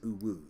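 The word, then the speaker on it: UWU: are you an alien this is the UW you but we pronounce it blue it stands for user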